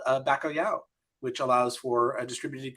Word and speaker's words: bacalhau: But it is impossible for American or English speakers to pronounce properly. It's bacalhau.